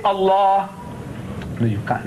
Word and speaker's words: Allah: The only thing I said, I'm telling you is that you write as you like, but pronounce my language the way I want you to. Say Allah.